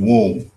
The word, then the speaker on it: WOMB: Yeah, and that movement is spearheaded by ISC Womb. That is womb, the womb of ISC, giving birth. WOM, because the B is silent, and WM is Women